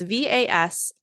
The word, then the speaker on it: Vasiliki: Oh then Vasiliki, I meant to look up how to say her name. It's Vasiliki, played the deceased mother of the father.